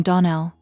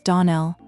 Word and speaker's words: Donnell: Clarice Almira told me that you pronounced our name Donnell. Now Miss Shirley, the correct pronunciation of our name is Donell. Accent on the last syllable.